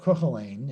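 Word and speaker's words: Cookalein: This is called Cocheline, if you wondered how to pronounce that.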